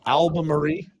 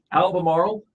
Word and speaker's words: Albemarle: a capital I in the middle of that word that's an l oh my gosh albemarie Albemarle Albemarle you know diesel